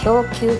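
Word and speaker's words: 氷球: 氷球と読みます。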